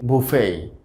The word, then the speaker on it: buffet: 2 নম্বর শব্দটি হচ্ছে বুফেই। আমরা বুফেই শব্দটিকে উচ্চারণ করে থাকি বাফেট হিসেবে। বাফেট, BUFFET, বাফেট আমরা উচ্চারণ করে থাকি বাফেট, তো আসলে সঠিক উচ্চারণটা হবে বুফেই। বুফেই। চলুন যাওয়া যাক পরের ওয়ার্ডে।